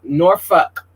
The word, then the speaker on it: Norfolk: Norfolk, because we're going to say it right.